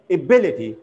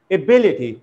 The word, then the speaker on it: ability: on the first syllable but it falls on the second syllable ability ability not ability ability so